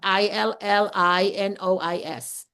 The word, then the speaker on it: Illinois: It's spelled I L L I N O I S. Illinois. Silent S.